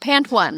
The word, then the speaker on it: Pantone: A single pant. Pant one. So Pantone. That makes more sense.